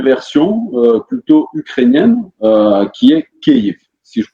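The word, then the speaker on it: Kyiv: Tu habites depuis 24 ans dans la capitale, à Kiev. Je prononce bien, je ne sais pas si je prononce bien, c'est Kiev?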